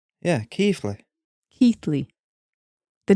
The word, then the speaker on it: Keighley: And he went, it's Keighley. Yeah, Keighley.